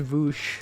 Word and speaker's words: Vaush: Yeah, it's pronounced Vaush.